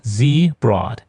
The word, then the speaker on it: ZeBROD: That's pronounced ZeBROD.